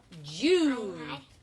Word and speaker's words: June: Ooh, but that's the silent E, remember? So the silent E, show them. The silent E makes the U say U. J, U. And then we don't say anything because it's silent. Silent means it doesn't say anything.